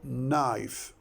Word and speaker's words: knife: four five five letters now how do you pronounce it we say knife now where is the K what about the K the K is silent or a mute knife now if we